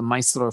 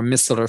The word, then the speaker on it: micellar: this excellent formula called the micellar foam or miscellar foam depending on your pronunciation french versus english so miscellar foams or